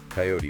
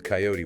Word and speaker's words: coyote: The examples given were pairs like creek sometimes pronounced as creek coyote with two syllables versus coyote with three route rhyming without versus root rhyming with boot.